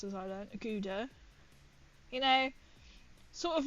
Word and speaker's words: Gouda: Gouda, as it's pronounced, as I learned. Gouda.